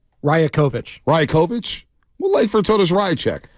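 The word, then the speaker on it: Rajaković: Well, I stayed up for it to hear a rant from the Toronto Raptors coach, Darko Rajacic. Right? Is that right? Rajakovic.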